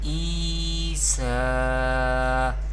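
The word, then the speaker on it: عيسى: We pronounce vertical harkat by stretching up to one alif or two harkat, and ya madda we pronounce by stretching up to one alif or two harkat. We pronounce like this: Isa.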